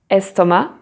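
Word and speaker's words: estomac: have some words like estoma where the c is not pronounced then let's have a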